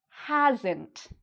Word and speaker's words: hasn't: So, notice how that's pronounced. Again, "n" apostrophe "t" is pronounced almost like: "ent", "ent". "He hasn't". And this part is usually said quieter and shorter; whereas the "has" part is longer and louder.